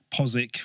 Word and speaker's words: Postwick: I come from Norfolk, where we've got Cossey, which is spelled Costesi, Posick, which is spelled Postwick, Haysborough, which is spelled Happersburg, Hell, which is spelled Lowestoft. Hell.